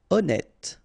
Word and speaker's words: honnête: Honnête. So remember, H doesn't exist.